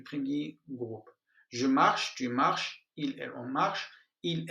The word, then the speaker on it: marches: Tu marches, la même prononciation.